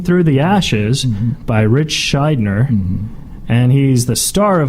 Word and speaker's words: Shydner: Shydner? You said it right. Shydner with a D, N-E-R.